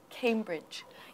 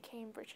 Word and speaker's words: Cambridge: Cambridge Cambridge listen carefully is it Cambridge or Cambridge Cambridge the first syllable yeah very good so the stress is on the first syllable Cambridge Cambridge Cambridge Cambridge excellent and don't forget that difficult ending sound h do you know that